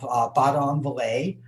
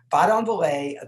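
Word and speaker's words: Badonviller: In big letters, I have Baudon-Vallée, and I'm pretty sure that's pretty close to how it's pronounced. I asked a couple of French speakers. So, and then there's Senones. Baudon-Vallée, that is where Messier was born.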